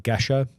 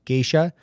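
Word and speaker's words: Gesha: you have heard of a coffee called like Gesa which is commonly mispronounced into gisha uh that's the the the the mother of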